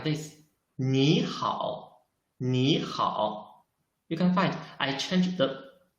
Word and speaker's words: 你好: Because in Chinese, if there are two third tongues, we should change the first third tongue into the second tongue. That's why I should read it 你好, not 你好.